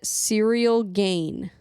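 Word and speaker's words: Ciryl Gane: about the fight and he said cereal gain that's how he pronounced his name serial gain okay Ciro gun is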